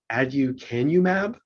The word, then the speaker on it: aducanumab: And I I it's pronounced um aducanumab.